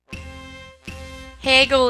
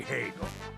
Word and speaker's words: Hagel: nice to meet you hegel is a pretty awesome character and him and meru have some a pretty interesting dialogue as well hey hey that's not how it's did pronounced call me hagel mr how should